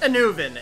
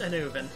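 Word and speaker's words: Annwn: It's pronounced Anuvin, if you're wondering. I looked it up. Yeah, the one at the top marked Ice Fire Treetop. It's pronounced Anuvin.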